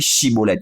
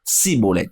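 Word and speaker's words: Schibboleth: Voyez-vous, il n'arrivait pas à dire Shibolet, il disait Sibolet, car il ne pouvait pas bien prononcer.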